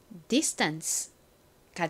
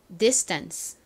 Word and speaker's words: distance: S의 바로 뒤에 T, P, K가 오는 경우 TPK는 어떻게 발음이 나나요? 미국식 발음에서는 S 바로 뒤에 TPK가 오면 된 소리로 세게 발음이 나는 경향이 있습니다. 그래서 이 단어에서도 거의 쌍디귿에 가깝게 세게 발음이 됩니다. 자, 제일 끝에는 ANCE가 있네요. 이제 익숙해지셨죠? ANCE는 무슨 소리가 난다고요? 단어의 끝에 왔을 때 uns 혹은 ens 소리가 납니다. 이 단어에서는 uns 소리로 쓰였죠?